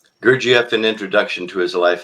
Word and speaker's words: Gurdjieff: Uh the one book I couldn't pronounce. Um GIF, pardon me. Gerif. Yes, that's it. Gerf, an introduction to his life and ideas.